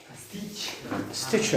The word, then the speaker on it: Stitcher: Stitcher, yes. The second T is silent.